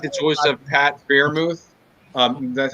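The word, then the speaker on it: Freiermuth: and i did like the choice of pat bermuth um that's how you say his name i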